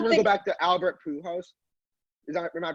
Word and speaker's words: Pujols: Wait, And I I just don't want to go think back to Albert Pujols. Am I pronouncing that right? Pujols.